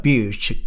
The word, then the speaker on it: beach: 근데 뒤에는 Laguna Beach, California Beach, 길게 발음하는 것입니다. 뭐 또 한 거 한번 찾아볼까요?